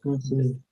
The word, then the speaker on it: persuade: Persuade. Read this word. Persuade. Okay. Now the correction is it's not persuade. Persuade. Persuade. Ah. Persuade. You have the stress in the second syllable.